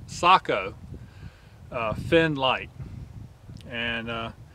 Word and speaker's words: Sako: Rifle right here and this rifle is a SEO or I'm sorry I think it's pronounced Sako uh fin light and uh this is really